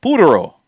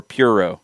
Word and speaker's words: Puro: a new seltzer called puro or puro depending on how you wanna you go for the pronunciation four bucks a can